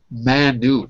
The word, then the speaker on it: Manu: do I pronounce it I say man like that Manu Manu Manu Manu hola